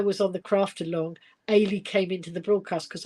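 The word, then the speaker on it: Eilidh: and I said, oh, you actually pronounce it Ailey, because I had a struggle to begin with, and my brother was here when we were discussing this, and he said, look, it's like Auntie A. I've got an Auntie Aileen, so I think Auntie Aileen, but just take the N off.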